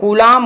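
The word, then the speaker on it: Coulomb: क्या होता है वह गुलाम होता है इसमें इसमें बी क्या होता साइलेंट होता है इसी को येलो LMB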